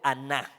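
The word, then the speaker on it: עָנָה: afligir esta palabra afligir viene del hebreo aná con acento en la a si eres de los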